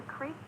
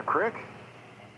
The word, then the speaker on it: creek: That's a creek or a brook, depending on where you grew up. Same idea, different accent. Okay, so not a crick? Crick is a dialect pronunciation of creek.